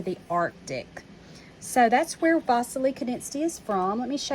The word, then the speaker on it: Wassily Kandinsky: And you see here his name is spelled with a W, but I've been saying Wassily Kandinsky. That's because he's Russian, and that's how they would pronounce it in that country.